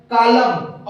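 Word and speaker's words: column: Atom, dam, कॉलम और hive, इन चारों उदाहरण में दोस्तों देखिए हमें एम एन एक साथ आ रहा है, जिसमें से हमारा प्रत्येक एन साइलेंट है।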